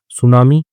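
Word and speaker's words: tsunami: सुनामी। ठीक है? सुनामी silent होता है।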